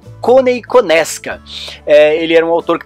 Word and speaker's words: Konieczka: but that's the way we pronounce it here, at least.